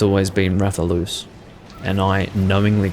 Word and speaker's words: Rathalos: monsters wrathian raphaelous yes it is loose wrathion rather loose those are the correct pronunciations for both names but i'm in bad habits so i say raytheon yeah it has traditionally been rather loose and i don't know what they say in